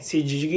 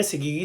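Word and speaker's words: syzygy: ठीक है, सिजिगी या सिगिगी, जो भी आप प्रोनाउंसिएट करो.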